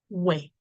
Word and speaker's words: wẹ̀: Okay, so we have to look at the word wẹ̀. How do you spell it? We, ẹ, we, ẹ, wẹ̀. We, ẹ, wẹ̀. And it has the tone mark do. Do.